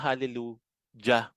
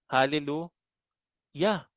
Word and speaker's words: Hallelujah: kasi yung word na Hallelujah Hallelujah Familiar ba kayo sa Hallelujah ang tanong halleluja ba ang ang bigkas niyo doon Hindi hallelu Yeah kasi ang basa diyan ay yeah ganun din ba ang